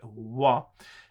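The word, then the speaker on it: は: how it is written that is a particle that as a particle it gets a different pronunciation so that's something you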